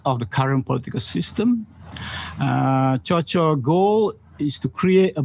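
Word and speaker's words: Kyaw Kyaw: His name is, the spelling would say Kiao Kiao, but his name is actually, the way you mention, you pronounce it is actually Cho Cho, isn't it?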